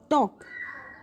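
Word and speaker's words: talk: उसके बाद टॉक, टॉक में भी जो एल है वो साइलेंट है, एल, यहाँ पे भी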